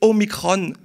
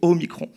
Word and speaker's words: Omicron: d'indiquer aux principaux médias de prononcer omicron plutôt qu au micron parce que micro et macro c'est un peu trop proches et ça risquerait peut-être